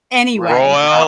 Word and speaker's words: Roel: Roel, like Joel.